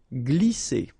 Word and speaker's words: glisser: And then when you combine this G and L here, you get the sound gl, gl. Glisser.